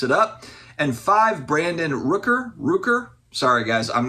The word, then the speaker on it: Rooker: up and five Brandon Rooker Rooker sorry guys I'm not a baseball person I think I said his name wrong the last time I think it's ruker Brent Rooker anyway Brad it